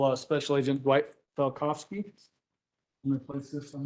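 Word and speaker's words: Falkofske: for the court reporter my name is falkovsky last name is spelled f-a-l-k-o-f-s-k-e Mr falkovsky who do you work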